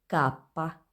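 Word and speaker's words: kappa: के को बोलेंगे कापा, कापा। एक्स, एक्स। वाई को बोलेंगे इप्सिलॉन, इप्सिलॉन। डब्ल्यू को बोलेंगे वू दोपिया, वू दोपिया। और ये फिर कंप्लीट करना है, यानी वही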